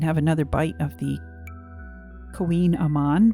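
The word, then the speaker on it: Kouign-amann: So we're going to go ahead and have another bite of the Queen Aman, which is a interesting name. It's spelled totally differently.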